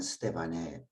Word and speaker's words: 스데반: 오늘 우리 스데반 천사의 얼굴을 한 스데반의 모습에 함께 말씀을 나누고자 합니다. 스데반 우리식으로 발음하면 스데반으로 불렀고 헬라어로는 스테파노스입니다.